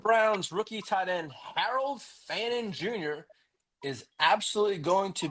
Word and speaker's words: Fannin: Harold Fannon. Fannon. Fanning. Fannon. fan in.